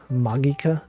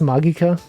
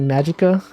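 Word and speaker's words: Magica: go into this it's like it's like madoka magika you know what's pronounced magika people people say some people pronounce it magicka but no it's actually magika so that's how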